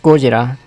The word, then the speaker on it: Gojira: Pronounced just Gojira, which is not confusing at all.